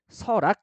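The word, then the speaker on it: 설악: 보세요 발음 따라가야 되죠 어떻게 발음합니까 서락 이렇게 발음을 해요 그래서서 Seo 지금은 앞뒤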